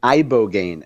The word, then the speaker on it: ibogaine: It's pronounced ibo gain.